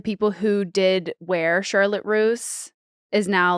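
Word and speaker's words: Russe: on the brand when she changed the pronunciation of the name to make it sound more vintage where it wasn't Charlotte Roose it was Charlotte Rouse or Russ or whatever was yeah yeah yeah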